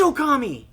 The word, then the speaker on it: Okami: Drew yes what's amatarasu oh Okami it is Okami yeah and that's how you pronounce it right okay thank you okay so